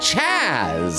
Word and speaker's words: Chase the Bunny: Chase the Bunny said, just so you know, my name is pronounced more like Chaz, and not Chase, but you're good.